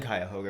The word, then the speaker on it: Cuyahoga: No, the people in Cuyahoga pronounce it Cuyahoga.